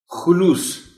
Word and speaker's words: خلوص: خاص توجہ چاہیں گے۔ خلوص خے پر پیش ہے۔ عام طور پر خے کو اس لفظ میں زبر کے ساتھ پڑھ دیا جاتا ہے، احتیاط لازم ہے۔ خلوص